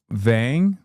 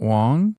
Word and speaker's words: Vang: It's Vang, not Wong.